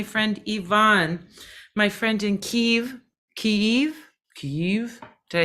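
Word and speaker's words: Kyiv: me and my friend Yvonne my friend in Kiev Keith did I say it right that's correct I'm truly trying my pronunciation I already got corrected once today needs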